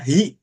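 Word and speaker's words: 火: 2 3 4 dibacanya hi.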